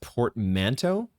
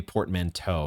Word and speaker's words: portmanteau: It's actually pronounced portmanteau, or maybe portmanteau. It looks like there's 2 different emphases that you could use.